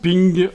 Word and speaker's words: PNG: Rainbow swos dot ping puisque PNG ça se prononce ping en anglais voilà donc dans dimension